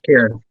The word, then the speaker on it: Kiran: So I can't think of, and I actually don't know, is it Kiran? Is that how you pronounce her name? Yes, Kiran. Yep.